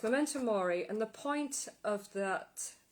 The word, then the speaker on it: memento mori: oh yes that's it it was called a momento mori i think uh yes memento mori and the point of